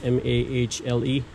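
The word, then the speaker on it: Mahle: male brand I think it's mah le thing that's how you pronounce it but get the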